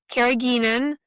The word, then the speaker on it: carrageenan: How do you pronounce it? The Carrageenan. carrageenan.